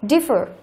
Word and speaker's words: differ: Đó, trọng âm rơi vào âm thứ nhất và differ cũng rơi vào âm thứ nhất.